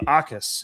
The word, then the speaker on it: Jacas: it might be spelled a little differently. You might pronounce it a little differently if you were just a white boy and you don't know any better. But Gabe Jacas is the way you pronounce this guy's name.